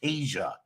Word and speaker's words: Teja: So Teja is pronounced Tasia, and it is the meaning of Tasia is it's like the essence of the sun.